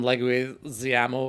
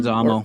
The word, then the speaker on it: Leguizamo: about stealing John Wick's car, and then John Leguizamo, I can never pronounce his name, like literally, I think he punches him. Leguizamo. or- Yeah. Leguizamo, yeah.